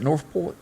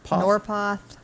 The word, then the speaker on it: Norpoth: Hillman North, you pronounce that Northport? Norpoth.